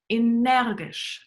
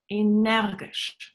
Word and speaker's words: Energisch: Think how it's pronounced in German. Energisch. Energisch.